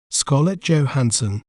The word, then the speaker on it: Scarlett Johansson: We may pronounce it as Scarlett Johansson, Scarlett Johansson, Scar, Let, Jow, Han, Sun, Scarlett Johansson.